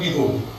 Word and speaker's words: Bihu: And in Assam it is called Bihu. Am I right? What is the difference? Difference of pronunciation. It's only the difference of pronunciation. See, V is pronounced as B in eastern part of the country.